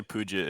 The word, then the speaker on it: Peugeot: pogrous it's billy yeah you just say you say pooja if you're american that's that's exactly that's acceptable i know i butchered